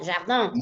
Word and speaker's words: jardin: Esa I abre un grado, se transforma en una especie de E. Y por influencias de la N, un, jardin. Esto es regla. I más N en la misma sílaba suena en, con una E nasalizada.